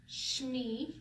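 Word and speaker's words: שמי: So sh, me, shmee. You kind of smush it together, shmee, and then it's gotta be attached to something.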